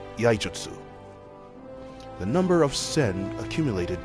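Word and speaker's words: Iaijutsu: Sen are required to perform yaijutsu. sorry, my throat was a little off. What I meant to pronounce it is yaijutsu.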